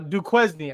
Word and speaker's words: Duquesne: have said du Quin I I'm telling you Duquesne I Duquesne sounds like that sounds like a name like I how would you pronounce Marquette if you didn't know if it